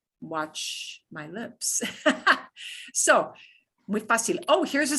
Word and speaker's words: fácil: So, muy fácil.